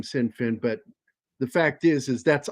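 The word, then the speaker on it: Sinn Féin: I said, it's actually said Sinn Fin.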